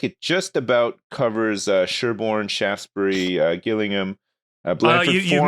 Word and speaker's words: Shaftesbury: it looks like it just about covers Sherborne, Shaftesbury, Gillingham, Blandford you Forum, mispronounced that, sir. Swanage, it's Shaftesbury.